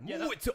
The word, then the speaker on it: Muay: You have to say it like a Muay Thai.